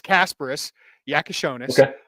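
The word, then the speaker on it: Kasparas Jakučionis: Yeah, I'm getting pretty good at like the accented words, and I'm getting better at the pronunciations. He says it's Kasparis Yakashonis and Tomislav Ivisic.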